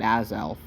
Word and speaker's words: Azelf: I call it Azelf. And that's the correct pronunciation.